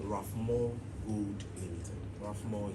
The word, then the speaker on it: Rafmoh: Rafmoh is spelled R-A-F-M-O-H.